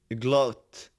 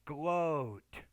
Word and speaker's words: gloat: honest, father, blow, blonde, glot, glow, No, the first one is still O. It's gloat, gloat.